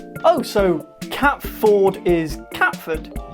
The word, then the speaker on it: Catford: Ford is instead pronounced FUD. Oh, so Cat Ford is Catford.